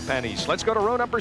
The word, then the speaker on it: Panis: five M hinan driving for McLaren it is pronounced panise he drives for Al Ro I said is it pan Olivier or panis or panise he said it is pronounced panise let's go to row number six as we